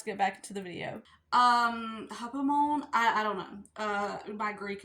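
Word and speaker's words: ὑπομονή: So, enduring, Strong's number 5281, hupomone. Editing me here, that word is actually pronounced hupomone.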